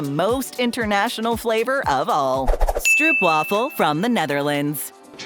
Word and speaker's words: stroop: with creamy caramel syrup pronounced in Dutch as Stroop which is where the